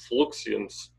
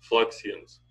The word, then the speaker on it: fluxions: He called it fluxions. I don't know how you pronounce that. F-L-U-X-I-O-N. Fluxions.